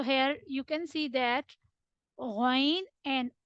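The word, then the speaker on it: غ: The next one, Ghain. The next letter is Ghain. The next letter is Kha. Ghain and Kha will originate from upper portion of your throat.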